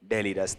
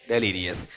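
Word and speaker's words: delirious: डेलीरिस है या डेलीरियस? डेलीरियस।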